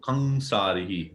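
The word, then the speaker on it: कंसारि: Generally, we just pronounce it Kansarihi. But if we go into the pronunciation, then it would be nasal, the sound.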